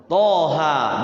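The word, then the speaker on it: طه: harus pakai qalqala th Thaha dua-duanya dua harakat nah Thaha itu dia Misa ya th ha kalau ini benar nih Thaha di Disebut apa namanya tanda bacanya Ya tho tapi memang tho m ya dia fathahnya pakai o juga th ha dua harakat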